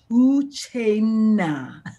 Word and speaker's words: Uchenna: My real name is Uchenna, and the best way to pronounce it is O-O-C-H-A-Y-N-N-A-H, Uchenna. Yeah, I love it.